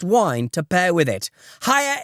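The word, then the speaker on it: Haier: Hire is spelled H A I Er, and we're offering a discount on their amazing products.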